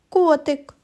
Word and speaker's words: котик: Зробимо звуковий аналіз слова котик. Котик. А тепер покличемо котика. Котик. Наголос падає на звук о.